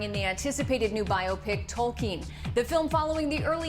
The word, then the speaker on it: Tolkien: was like, oh, that's not how you pronounce his name. So I'd walk around all day going Tolkien, Tolkien, Tolkien, so that I got that jammed into my head as the right way to pronounce the character's name I'm playing.